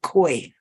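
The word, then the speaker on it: Kwai: Quay yeah it's k it's looks like it's spelled like Kauai but it's quite as my Vietnamese tour guide to us we should say koi and that probably you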